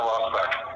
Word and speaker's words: Rossbach: Special Agent Rossbach.